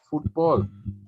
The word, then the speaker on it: fútbol: Zapatos de fútbol. Accent on the U.